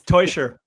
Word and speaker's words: Teuscher: It's Teuscher. I know it's a bit confusing for English speakers. It's a Swiss family name, and it's spelled Teuscher as if it was spelled T-O-Y.